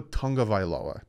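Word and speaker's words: Tagovailoa: lot of people say there's no n in there it's tua tango vailoa tongue like tonga vialoa but that's yeah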